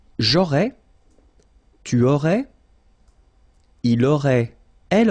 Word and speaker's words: aurais: J'aurais, remember, final S not pronounced. Tu aurais, same thing here, final S not pronounced.